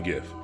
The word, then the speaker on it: GIF: guys oh it's gift it's definitely gift it's not jiff it's 100% gift and I like it